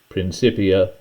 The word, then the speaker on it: Principia: The original name is in Latin, and Latin didn't have a soft C sound. The C was sounded like a K, so that's why I'm pronouncing it that way.